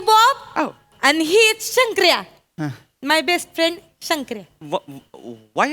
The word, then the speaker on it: शंकऱ्या: and he is शंकर्या. My best friend शंकर्या. Why are you blushing? नाही no flashing. असंच friend आहे, गहरी दोस्ती आहे. Oh, hello. Hello, Santria.